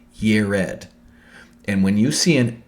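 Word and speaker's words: יֶרֶד: Jared is important because the city of Eridu is named, Jared is pronounced in Hebrew, Yered.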